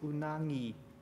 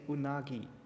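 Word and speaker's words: うなぎ: And in Hokkaido they pronounce it unangi and in Tokyo they say unagi.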